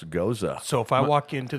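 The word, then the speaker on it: Gose: drink this can you tell me I've always pronounced this as a ghost um yeah he has no idea he's just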